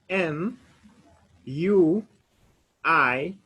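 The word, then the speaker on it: nuit: n u i t so whenever we have u i in a letter in french we normally pronounce it like we that is w i we so when we say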